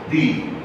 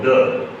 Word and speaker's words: the: So the definite article is the word the or the right pronounce it the and the.